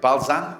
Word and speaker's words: Balzan: After 3 years, you joined Balzan, is that how you say it?